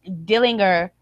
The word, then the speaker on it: Dillinger: Ty Dillinger and I love that you just called him Dillinger. That's not how you. It's Dillinger. Pronounce it. Oh, there's a G in there.